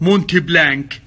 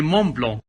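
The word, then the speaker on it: Montblanc: هذا هو المون بلو كثير من الناس ينطقوها غلط مونتي بلانك لا مو بونت بلانك هي مون بلون هي مكتوبه مونت بلانك كذا بس ما تنقال ما تنطق ترى تنطق مون بلون زي الفرنسيين لا تقولون مونتي بلانك نتورط هذا هو اضفته اه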